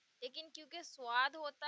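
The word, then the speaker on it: ص: स्वाद यानी इसे भी हम सा से प्रोनाउंस करते हैं, लेकिन क्योंकि स्वाद होता है तो स्वाद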